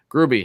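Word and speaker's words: Grubbe: see we have morgan barron will cooley jaden grube grooby how he pronounced his name carl henriksen patrick coderenko you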